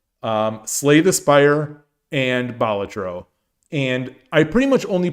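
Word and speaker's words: Balatro: Um, Bolatro or Bolatro, depending on how you pronounce it, I think is an amazing game.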